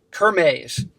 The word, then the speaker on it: Kermes: Kermes. Okay. Somebody can fill me in on Kermes. Pronounced like it was written.